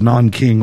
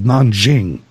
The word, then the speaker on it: Nanjing: One of the things that sets the rape of Nanking, or the rape of Nanjing, as the Chinese pronounce it, apart is the brutality that they suffered under Japanese occupation and invasion.